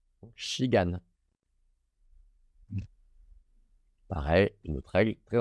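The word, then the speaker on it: 시간: Donc c'est pas si, c'est chi. Puis dans la dernière syllabe, un K ou un G. Ici, je sais que c'est un G, un A, puis un N. Donc gan, shigan.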